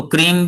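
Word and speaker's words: क्रीं: तो क्रीम भी कुछ लोग प्रोनाउंस करते हैं। क्रिंग भी कुछ लोग बोलते हैं।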